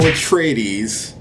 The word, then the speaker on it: Atreides: I know it's Paul Atreides.